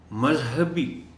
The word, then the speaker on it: مذہبی: خاص توجہ چاہیں گے۔ مذہبی، دیکھیے یہ لفظ چونکہ لفظ مذہب سے نکلا ہے، اس لیے ہمیں تلفظ میں یہ احتیاط رکھنا ہوگی کہ ہم اس کو مذہب بولتے ہیں اس لفظ کو، تو یہاں مذہبی بولیں۔ عام طور پر اس